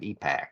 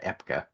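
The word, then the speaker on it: EPCA: conservation Act of 1975 epack or sometimes you hear pronounced Epica uh but uh so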